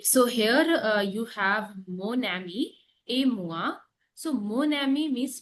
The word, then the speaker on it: amie: So if you, but pronunciation is same. Masculine, that is, masculine, that is AMI with I, that is AMI, and feminine AMIE, clear?